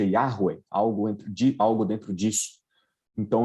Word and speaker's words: Yahweh: Esse tetragrama sagrado, nós não sabemos a pronúncia corretamente, os judeus evitavam falar para não cair no pecado de tomar o nome de Deus em vão, mas basicamente, provavelmente a pronúncia mais correta seja Yahweh, algo dentro disso.